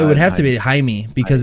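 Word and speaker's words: Hymie: such weird names that are so dead now hi me jaime h-y-m-i-e john i've literally never met one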